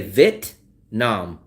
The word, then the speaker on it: Vietnam: I always they never pronounce the e. They don't say v it. They say vit vit.